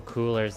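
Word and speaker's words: Kuler: Oh, Coolers is a website that generates color schemes.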